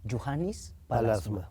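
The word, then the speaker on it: Juhani Pallasmaa: un arquitecto finlandés que se pronuncia, ¿cómo se pronuncia? Johannes Palasma. Juhannes Palasma, finlandés, sí.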